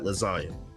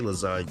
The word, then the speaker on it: lasagna: If you know how to spell lasagna, how to say lasagna, you know that the G is silent.